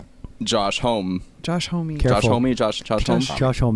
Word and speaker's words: Homme: Josh Homme, Josh Homme.